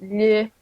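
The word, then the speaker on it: melhor: Remember the L and the H together. It's pronounced milard.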